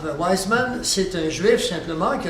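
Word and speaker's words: Weizmann: de ouismans si vousensez si vous parlez du W mais souvent on le prononce avec le V alors wisem c'est un juif simplement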